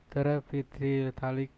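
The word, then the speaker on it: terephthalic: from the two monomers terapialic acid not PH is Silent and eylan Glycol care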